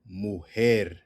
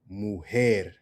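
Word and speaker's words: mujer: Muher. Muer. Or if you're in the Caribbean, they might say mu. Don't say that.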